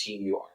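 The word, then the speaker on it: Türkiye: And also, it's not Turkey. It's Turkey. So they changed it. It's Turky. Is the official.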